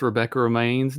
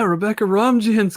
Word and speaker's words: Rebecca Romijn: I learned that I didn't know how to pronounce Rebecca Romaine's name today. I was told my wife, I was like, yeah, Rebecca Romijn's going to be there. It's not even spelled like that. And she's like, who? From Ugly Betty, and was also in X-Men and all that. Yeah, she's like, Rebecca Romaine? I was like, it has a J in there.